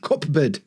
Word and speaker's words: cupboard: But it's actually spelled C-U-P-B. Cupboard. And we don't say board, not cupboard. Cupboard. Cupboard.